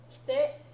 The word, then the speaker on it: 来て: Okay, these three verbs all exist. Kite, to come. Kitte, to cut. It's not just a stamp, it's also to cut. Kiru is the original verb. Kiru, kitte. Okay, and then kiite, to listen, right, or to ask. Kiite kudasai. Right? So let's practice our pronunciation of those three so that we're differentiating them. Okay?